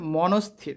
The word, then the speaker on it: মনস্থির: দেখো উচ্চারণটা কী হবে? মনস্থির, ঠিক আছে? মাঝখানে খালি ঘরটা হবে না। মনস্থির, শয়ের নিচে হসন্ত রয়েছে, রয়ের নিচে হসন্ত রয়েছে।